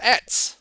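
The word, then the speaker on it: עץ: Okay, and it's pronounced etz. Okay, so a tree is etz.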